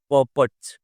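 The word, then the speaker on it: purport: इफ आई am wrong correct with the pronunciation, the pronunciation is पर्पट, ठीक है ना।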